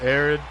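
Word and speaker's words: Aran: Because it's pronounced Aaron, but it's spelled A-R-A-N.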